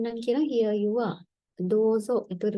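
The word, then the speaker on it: どうぞ: ඉතින් මෙතනත් long vowel එකක් තියෙනවා. දෝ වලට ඌ එකක් ඇඩ් වෙනවා. දෝ කියලා ඇදෙනවා. ඊළඟ මෙතන zෝ කියලා තියෙන්නේ. සෝ වලට තෙන් දැම්මම zෝ කියන සවුන්ඩ් එක හැදෙනවා.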